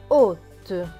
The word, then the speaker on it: hôte: Plus loin, H et O. O, puisque le H ne se prononce pas. 2 T, E. Donc 2 T, E. T et E. Te. Donc ce mot va se prononcer hôte.